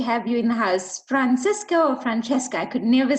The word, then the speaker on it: Francisco: people don't not know how to pronounce my name but don't worry it's Francisco it's in Spanish uh my name is Francisco sco uh I'm from